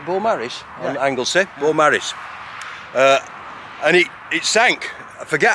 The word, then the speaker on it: Beaumaris: Is that how you pronounce it? Beaumaris? Yeah. On Anglesey? Yeah. Beaumaris.